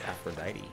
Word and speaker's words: Aphrodite: Oh, it's Aphrodite. Or however the hell they pronounce it in for real.